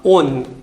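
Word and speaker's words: -one: और सफिक्स है इसका ओन। इसको लिखेंगे ONE से, बट इस प्रोनाउंसिएशन इज ओन। इसका प्रोनाउंसिएशन कैसा आएगा? ओन। ओके, स्पेल करेंगे ONE से, लेकिन इसका प्रोनाउंसिएशन आएगा ओन।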